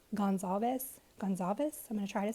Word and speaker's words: Gonzalez: I might screw them up, but I did see Kaylee's dad pronounce it as Gonzalez.